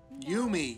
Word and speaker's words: Yumi: Therefore, every vowel gets its own syllable. So, YU is its own thing. U, MI is its own thing. So, me. You, me.